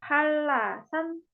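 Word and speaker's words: 한라산: Contoh lain ada ini nama gunung ya. Ini N, ini R. Jadinya LL duanya. Jadinya Halasan.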